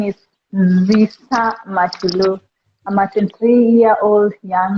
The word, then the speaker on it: Nzisa: Nasisa? No, Uh, Nzisa. Ni Niza. Niza. No, you pronounce N and Z together. Nzisa.